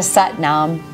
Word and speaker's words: Sat Nam: Let's seal our work with the mantra Sat Nam. It rhymes with Butt Mom. Inhale to prepare. Close your eyes. Sat Nam.